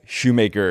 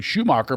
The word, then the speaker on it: Shoemaker: that's my name Craig Shoemaker and thanks for getting myo Shoemaker pronunciation correct a lot of people don't they go oh we're here with Craig shoem marer my favorite comedian wow